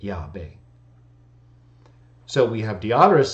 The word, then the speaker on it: Yahweh: Leviticus B to Theodoret, where it is represented that the Jews pronounce the divine name either Yah-O or Yah. Even Theodoret doesn't say the Jews pronounce the divine name Yahweh. He says the Samaritans pronounced it Yahweh.